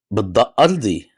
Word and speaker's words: Ardi: أرضي يعني بالضاد. Ardi. You want me to say بالضاد أرضي Ardi? يعني. Oh, عظيم. شو do I want to هذا اسمي يعني. أنا Ardi. فلسطيني. I mean, Ardi.